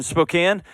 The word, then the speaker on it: Spokane: to Suzanne out in Spokane hey what's up Suzanne hi there hi there how's it going I just love that it rhymes Suzanne and Spokan it just made me